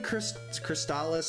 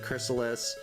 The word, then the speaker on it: Crystalis: I've never played, well, I've played Crystalis, I think is how you pronounce it, Chrysalis.